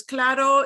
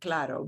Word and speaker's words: claro: you mean you're agreeing if you mean to disagree do not use the word claddo but clatto means you're